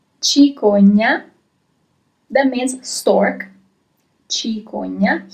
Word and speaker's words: cicogna: Here you have CI at the beginning of the word in English, so CI in Italian, and I remind you that the sound is always ch in this case. If there was an H,